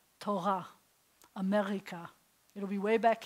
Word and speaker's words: Torah: So if you were going to say like Torah, it would have to be gently trilled, almost like Spanish. But no Israeli I know will say it like that. Most of the time, they'll say it way back here like this, Torah, America.